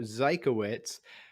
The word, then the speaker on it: Zykowitz: So Zykowitz, just like Einstein or Budweiser or Oppenheimer.